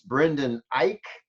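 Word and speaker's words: Brendan Eich: as a programmer it's brendan ike i think is how you say it and he was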